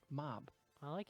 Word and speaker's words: mobile: gets shortened to just mob I like it came from mobile well however you go however though in the Latin pronounce pronunciation of mobile is mobili it's not no John